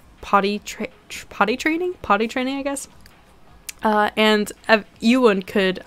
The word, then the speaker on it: Ewan: And Ewan could, I almost called him Evan.